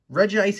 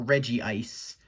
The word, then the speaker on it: Regice: age pokemon we have regis is also the only titan that has a different name that gets pronounced two ways there are no two eyes in it it's either regis or reggie ice did you also know